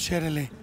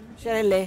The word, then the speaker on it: Sherele: es una pieza o sea lo correcto es pronunciar los sherel sherel sherel kmer no sherel bu kmer Cómo se